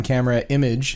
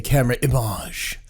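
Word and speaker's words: Camerimage: I came back from Camera Image, is the correct pronunciation, even though you'll hear most people say Camera Image, which sounds very pretentious, and it's a little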